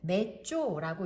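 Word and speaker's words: mezzo: 그리고 앞에 M이 붙어 있는 경우 이 M은 메쪼라고 읽습니다.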